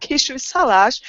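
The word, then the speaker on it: Kisújszállás: It's called Kisújszalás, and you have to stress it like this, like Kisújszalás.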